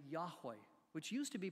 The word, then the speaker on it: Yahweh: for that reason but most scholars believe that the best pronunciation of those four consonants in Hebrew uh from Exodus 3:14 is uh is Jehovah I'm sorry is Yahweh instead of Jehovah and that it's the